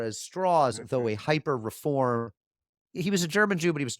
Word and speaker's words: Strauss: it's not pronounced straw Strauss it's straws and he says well it's the southern pronunciation because he's from West Virginia and Abby says straws